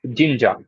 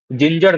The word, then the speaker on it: Jinja: HTML, इसको बोलते हैं जिंजा. जिंजा और जे इंजा मुझे पता नहीं, बट उसका स्पेलिंग है JINJA. ओके, तो मैं जिंजा ही बोलता हूँ, जिंजर नहीं. हाँ, जिंजा.